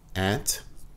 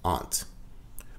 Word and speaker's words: aunt: The next word has two pronunciations. You can say aunt or you can say aunt.